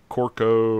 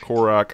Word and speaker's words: Korok: Korok. I can never pronounce it right. You know me and pronunciation. You're adding an O on the end.